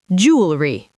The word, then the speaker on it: jewelry: It looks like it has 3 syllables, jewelry, but in American English, we actually say it with just 2, jewelry.